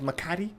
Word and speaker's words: Makati: else in Metro Manila it's a place called Makati Makati okay Mikado McCarty aye oh man it rhymes with Bacardi yeah I moved from